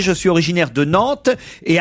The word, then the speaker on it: Nantes: Moi, je prononçais avant le S de Rennes et de Nantes. Je dis Rennes et Nantes, par exemple. Les gens me disent non, c'est un S.